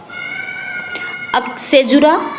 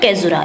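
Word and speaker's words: caesura: Next सेजुरा या फिर कैजुरा, इसको कोई कुछ भी प्रोनाउंस कर सकते हैं, कैजुरा या सेजुरा।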